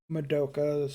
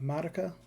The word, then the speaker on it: Madoka: Madoka is apparently how you say it, not Madoka. It's Madoka.